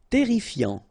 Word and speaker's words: terrifiant: Terrifiant. Final T not pronounced. Double R here, so it will open the pronunciation of your E, and then it will be E.